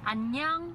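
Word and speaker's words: 안녕: Annyeong.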